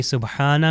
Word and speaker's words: سبحان: کے لیے، یہ دیکھیں سبحانہ میں یہ ہا جو ہے اس کا تلفظ صحیح ہونا چاہیے.